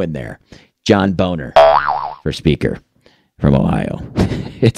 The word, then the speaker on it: Boehner: up it's John boner I want to say Boehner like everybody else can't do it there's an o in there folks don't forget that out